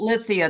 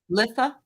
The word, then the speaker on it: Litha: how do you pronounce it's not Lithia then it's litha litha Lia litha litha